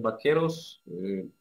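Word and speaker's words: vaqueros: языке у Как произносить вообще-то общепринято испанском языке бук и произноси б б Поэтому правильно сказать бакес хотя Извините я уже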